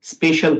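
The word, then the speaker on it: spatial: च इ called स्पेशल इसकी स्पेलिंग है एस प ए टी आई ए एल लेकिन इसको प्रोनाउंस हम स्पेशल करते हैं सो दे हैव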